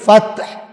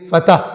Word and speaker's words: فتح: سے جنہوں نے فتح، یہ لفظ اصل میں عربی میں فتح تے ساکن ہے، لیکن ہم اردو میں تلفظ میں آسانی کے لیے فتح کہہ دیتے ہیں، ٹھیک ہے؟